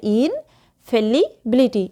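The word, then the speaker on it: infallibility: আসলে কিন্তু তা নয়, বানানটা মনে রাখার জাস্ট একটা মানে টেকনিক বলতেছি। তাহলে ইনফ্যালিবিলিটি, ইন মানে ভিতরে, ফেললি মানে তো ফেললি, যেটা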